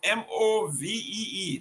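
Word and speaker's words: MOVEE: Is that movie or move? M-O-V-E-E. That is a political party. How you pronounce it? Move.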